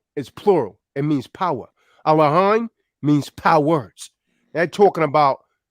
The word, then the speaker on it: Elohim: He taketh away Allahim, David. Allahim. Allahim. You're not a Muslim say Allah. You're saying Allahim.